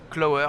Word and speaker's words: Qlower: Alors ce nom, il est effectivement difficile à prononcer, on prononce Clower, ça s'écrit Q-L-O-W-E-R. Et en fait, ça vient de l'anglais Clover, qui est un trèfle.